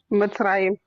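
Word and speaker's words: מצרים: So Metzarine. That's how you pronounce it. Uh, I think the South African woman told me how to say it to pronounce it a different way. So you say Metzarine. What do you say? Sue Yahoo. Mitzrayim. Metzarine. Mitzrayim. It's just different accents. It's the same thing.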